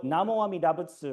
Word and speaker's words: Namo Amida Butsu: So Namo Amida Butsu, right, is the standard way of saying this in Japanese's pronunciation of Chinese.